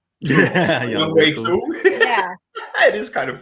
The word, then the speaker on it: Younghoe Koo: Younghoe Koo.